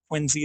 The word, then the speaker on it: Quincy: Quincy is how they say it.